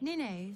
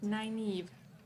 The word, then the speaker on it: Nynaeve: It's Nineve, isn't it? Sorry if I'm Nineve? mispronouncing it. I can't quite place the accent. Nynaeve.